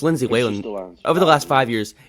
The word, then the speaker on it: Whalen: other player is uh Lindsay wh it's Lindsay way over the last five years it's it's the